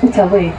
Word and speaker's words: Outaouais: So in their language, Ottawa is pronounced Outaouais, and it means to trade.